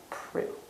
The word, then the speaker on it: Proulx: It's spelled Proulx, but we do not pronounce the X. We do not pronounce the L. It is Annie Proulx.